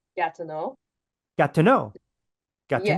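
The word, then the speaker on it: Gatineau: let the jab go e Au at the end of words in French it would be pronounced like o so it' be like got to know got to know got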